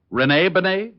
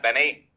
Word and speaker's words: Benet: Renee Benet. Yeah, I guess that's the way you pronounce it. You see, Otis, your mallet head, you were wrong. It's pronounced Benet, not Benny.